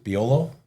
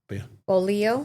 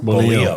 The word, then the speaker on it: bolillo: So torta, how do you say the bread it is? Biolo? Bolillo. Bolillo.